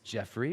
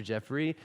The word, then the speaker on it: Geoffrey: uh most of you probably know me as jeffre or Pastor Jeffrey uh or you even know know me as or Pastor either one of that's all great uh because my name is spelled Geo FF r y I always have this